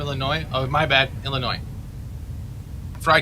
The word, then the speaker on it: Illinois: up Tammy F hello the S is silent from Illinois oh my bad Illinois